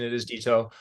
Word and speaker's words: DitO: dto dto okay so got the got the pronunciation it is dto um but yeah just as a claimer I